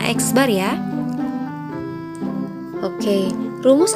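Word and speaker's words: x̄: Nah, ini dibacanya X bar ya.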